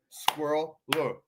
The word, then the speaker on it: squirrel: could be included but squirrel is intended to be pronounced as two syllables squirrel according to most dictionary